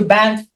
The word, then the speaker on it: Banff: Also, we've been to Banff. Yeah. Is that the right pronunciation?